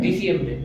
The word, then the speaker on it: diciembre: okay, लेकिन यहाँ पे क्या लिखा हुआ है? I, आई, तो आई का प्रोनाउंसिएशन क्या है? ई। तो दिसंबर। diciembre, vale, आई होप ये आपका वंस भी क्लियर हो गया होगा।